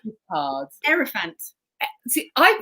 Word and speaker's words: Hierophant: Hierophant. See, I pronounce it with a hierophant.